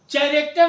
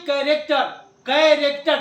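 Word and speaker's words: character: उसके बाद कैरेक्टर, हम तुमसे बात कर रहे हैं, चैरेक्टर नहीं, कैरेक्टर, ठीक है।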